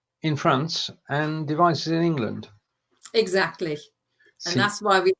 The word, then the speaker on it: England: Weiblingen ist die Partnerstadt von Mayenne in Frankreich und Devizes in England. Except you need to pronounce it in German, so it's in England.